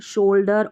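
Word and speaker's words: shoulder: और ये जो शोल्डर में हमने देखा था शुड में तो एल साइलेंट था लेकिन ये शोल्डर में एल का उच्चारण हो रहा है।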